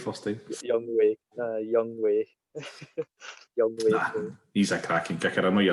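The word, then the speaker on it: Younghoe: Young Wei.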